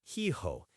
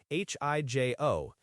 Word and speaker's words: hijo: Son is hijo, H-I-J-O, and daughter is hija, H-I-J-A. The ha is silent in Spanish, remember, so it's hijo and hija. Right, the silent ah is always a fun one for English speakers.